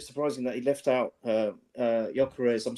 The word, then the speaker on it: Gyökeres: it a bit surprising that he left out Gyökeres.